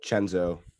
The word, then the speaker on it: Cenzo: amazing is that it's pretty cool so just spell it right there's no h in chenzo about it no c-e-n-z-o so you'll get 20 off plus free shipping